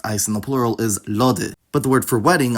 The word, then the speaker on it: lody: in those places, because the sound shift didn’t apply to inflected forms of those words with suffixes, and those are still pronounced [ɔ].